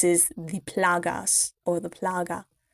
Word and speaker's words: plaga: So Louise tells Ashley that this is the plagas, or the plaga. I think it's plaga, not plagas.